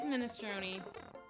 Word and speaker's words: minestrone: Italian language course teach the standard Italian pronunciation. I'm horrible at this today. Nope, it is minestrone.